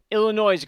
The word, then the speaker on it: Illinois: let's talk about this so as far as Illinois's goes right now Illinois sorry the S is silent I know that now thank you so